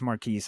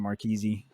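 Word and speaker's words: Marquise Brown: side note marquis brown i know his name is marquise i say that because turtle pronounces his name marquisi um mark marquez brown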